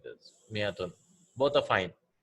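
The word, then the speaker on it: مائة: So miyatun, the alif is not pronounced, right? We write an alif here, but it is not pronounced. It is also written as like this. It is pronounced miyatun.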